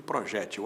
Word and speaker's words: projétil: Se você encontrar um especialista em balística, ele vai usar muito mais projetil do que projétil. As duas formas existem. Projétil paroxítona, que termina em L, com acento no E da sílaba G. Projetil sem acento, oxítona. As letras são as mesmas, o acento é que muda.